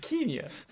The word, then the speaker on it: Kenya: money and in in Kenya um but he sort of goes along with it Kenya isn't that amazing they all pronounce it Kenia Kenia um so yeah so